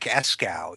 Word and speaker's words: Eskow: Well, thank you, because if you have a name like Eskow, you get used to mispronunciations, even though it's totally phonetic.